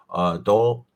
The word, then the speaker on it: Dowdle: But like you said, dude, we gotta watch out for Dowdle. That's how you say his name, right? Dowdle, yeah, Rico Suave.